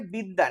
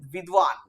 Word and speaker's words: বিদ্বান: এটা অ্যাকচুয়ালি আমরা বলি হচ্ছে বিদ্যান, এই যে উচ্চারণটা আমি লিখেছি দেখো একটু, বিদ্যান বলি, কিন্তু এটা উচ্চারণ হওয়া উচিত বিদ্বান, বিদ্বান।